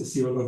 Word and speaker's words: Isiolo: Is Isiolo the pronunciation?